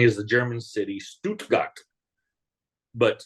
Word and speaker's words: Stuttgart: a city they call Stuttgart okay but it's the exact same spelling as the German City Stuttgart but you have to say all the letters you can't Glide at the end okay teaching them to